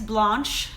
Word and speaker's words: Blanche: channel my name is Blanche and it rhymes with like launch not ranch I'm not Blanche and